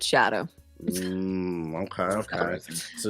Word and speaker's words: Scadu: sco I don't well so apparently uh scadu is like an Old English word for shadow so you actually just pronounce it shadow okay okay so it's